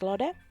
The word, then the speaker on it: Lotte: And this is Lode. And yes, I know that I'm probably pronouncing her name so wrong, but anyway. Lode, that's spelled Lotte.